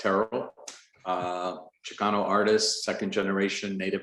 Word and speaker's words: Terrill: So I'm Joey Terrill, pronounced Terrill, Chicano artist, 2nd generation native Angelino.